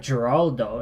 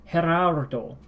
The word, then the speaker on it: Gerardo: So this is taking the Spanish G for instead of Geraldo, it's Gerardo. But at the R there, Gerardo. Gerardo. Gerardo.